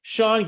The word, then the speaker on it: Sean: I almost said Shane. Sean Gauthier.